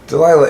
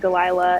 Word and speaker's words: Delilah: just more of like how you would imagine someone who has an accent saying Delila it's not as like like um like the D is softer for sure because like when they pronounce their D's it's more like a like a the sound it's it's a lot softer I think it's prettier my middle name well